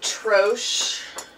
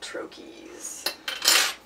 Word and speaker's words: troche: show in a minute some people pronounce it troche um or you can call it a lozenge but in Pharmacy world they're called trokies is there a reason